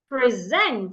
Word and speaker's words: present: I'll pronounce it as present. Present. It is the zent that I'm saying louder, longer, and clearer. Present, not present.